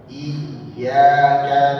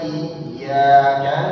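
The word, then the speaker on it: إِيَّاكَ: Iyyaka na'budu wa iyaka nastain. Ya. Jadi beda bacanya dengan iya apalagi dia digunahkan gitu ya. Atau tidak ada tasdid.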